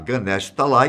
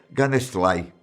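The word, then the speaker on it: Ganesh Talai: sábio parou pensou e percebeu que é que sempre pronunciou o nome do lugar em que morava totalmente errado em vez de falar ganesh tá lá em azul sempre dizia da nestle ele ficou em choque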